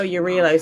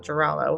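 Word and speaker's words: Jarilo: Oh, Urilo 6. That's how you pronounce it. Not Geraldo, however I was pronouncing Pom-Pom it.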